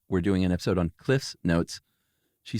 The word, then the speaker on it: Cliff's Notes: I said it wrong the first time. It's never been Cliff Notes. It's Cliff's Notes.